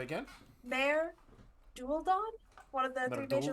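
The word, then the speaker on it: Maer Dualdon: Mare Dualdon, one of the three major Merdulden?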